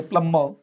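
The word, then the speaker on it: plumber: Okay, तो आप सही पढ़ोगे प्लम्बर, पॉम, कंगा होता है।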